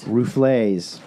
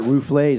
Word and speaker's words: Ruffles: doing ruffles all dressed rouflees they pronounce it roof lays in cuba oh replays yeah